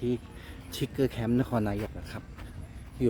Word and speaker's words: Trigger: คืน เคาดาวน์ นะ ครับ นี่ ครับ อ่าน ว่า ทิกเกอร์ Camp New Year 2024 นะ ครับ นี่ ครับ